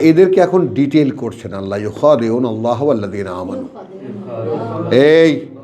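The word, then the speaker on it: يُخَادِعُونَ: আচ্ছা, এদেরকে এখন ডিটেল করছেন আল্লাহ, ইউখাদিউন আল্লাহ ওয়াল্লাযীনা আমানু। এই উচ্চারণ ঠিক করো, কান ঠিক করো। ইউখাদিউন ইউখাদিউন আল্লাহ, কোথায় কোথায় টানি, কোথায় কোথায় ঘাটতি করে খেয়াল করো না কেন এখনো।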